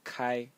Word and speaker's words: 開: going to talk about a character which is pronounced Kai Kai and it means to open to open